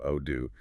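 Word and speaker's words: أعوذ: That's the common mistake, mentioned pronouncing it like a zay, so it sounds like ozu instead of odu. And the instructor stresses that slight difference matters.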